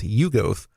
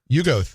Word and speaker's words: Yuggoth: So H.P. Lovecraft originally pronounced it as Yuggoth. Yuggoth. Yeah, to where it almost rhymed with Pluto. Okay. And there's one of the stories, it's, I think, Shadow Out of Time. Right. That you hear Yuggoth, and he mentions that it sounds very close to Pluto. So that's how we know that's how to pronounce it.